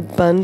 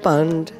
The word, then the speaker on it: bhand: So I think one of the significant things about the pronunciation is that the word bhand, it keeps repeating over and over again. And what is bhand? You hear there's a slight inflection. It's not just bhand, but bhand, where you're making a